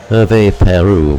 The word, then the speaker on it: Hervé Pierru: do can I pull him from top survey Merve a pair rule by the way think is how he told me to pronounce it so Thomas will take his jackpots